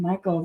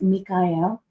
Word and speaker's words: Mikhail: There's a Ukrainian guy named Michael that I used to know, and everybody called him Michael, but it's Mikhail is how he pronounced it and wanted people to say it, and it took so long.